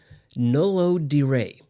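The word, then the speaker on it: No lo diré: Moving on to song 2, we have a song named Nolo diré, which is spelled just as it's pronounced.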